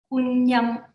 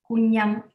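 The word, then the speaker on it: Kwun Yam: To me, this is Kunyam, and I pronounce it in a Cantonese way, Kunyam.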